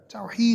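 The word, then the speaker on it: Tawhid: Tawheed is everything to the Muslim.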